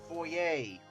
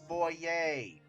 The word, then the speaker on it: foyer: is talk to the foyer no it's not pronounced foyer like HGTV likes to do it's foyay like seriously like I